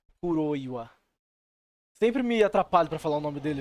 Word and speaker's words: Kuroiwa: E galera, temos aí um suspeito aí, chefe do Ayabe, o Kuroya. Kuroiwa, acho que é assim que se pronuncia melhor. Porque tem o WA, né? Kuroiwa.